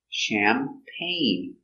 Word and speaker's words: champagne: the short a sound champagne so we see the g is silent pain together champagne accent goes up at the end champagne do you drink